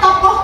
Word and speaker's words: tokoh: Betul sekali, karena tokoh itu bacanya tokoh ya, karena ada H yang di belakang.